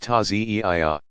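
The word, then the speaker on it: Ta'ziyah: In more traditional Shi'i villages, people still gather to reenact the events in a passion play called the Taziyah, pronounced Taziyah.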